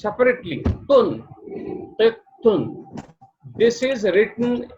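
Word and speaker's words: قطة: be pronounced separately, tun, tet, tun. This is written like this with the sign of shadda. Shadda indicates that ta is double and there is a tanween dhamma, double dhamma on it.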